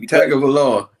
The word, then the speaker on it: Tagovailoa: Patrick Mahomes and Tua Tagovailoa, whatever how you pronounce his name. Tagovailoa.